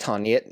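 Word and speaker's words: Tarneit: be on Friday in Tarnet. Yes, pronounced tarnit, not however it is that Loachy pronounces it and he was called out for that on social media which I found quite funny.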